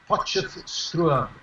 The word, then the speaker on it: Potchefstroom: I'm in a small university town called Potchefstroom, and you pronounced it very well indeed earlier.